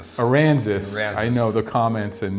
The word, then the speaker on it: Aransas: I always want to say Aransas, but I like to think if Arkansas and Kansas had a baby, get Aransas. So this is a bigger one.